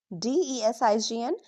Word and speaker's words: design: Notice we pronounce the n sound not the g.